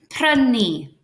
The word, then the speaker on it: prynu: Try to roll your R's. Rr. Prynu.